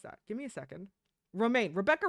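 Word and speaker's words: Romijn: How do you How do you pronounce that? Give me a second. Roma. Rebecca Roma.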